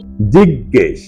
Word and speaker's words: জিজ্ঞেস: জিজ্ঞেস সঠিক এবং শুদ্ধ উচ্চারণ হল জিজ্ঞেস ক এর নিচে অসন্ত দিয়ে উচ্চারণটি করতে হয় জিজ্ঞেস 32 মূল শব্দ ঝাপসা